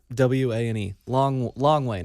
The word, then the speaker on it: Hlongwane: It's HLONGWANE. Longwane. I think the H is silent.